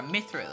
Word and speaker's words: mithril: that Mitchell man or mithril I think it's mithril why did I say Mitchell I have no idea